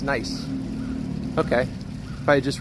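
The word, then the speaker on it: gneiss: I SS yes oh it's pronounced nice okay if I had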